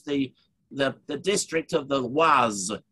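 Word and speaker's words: Oise: there which is the the district of the waz it's the perfect deal of the was o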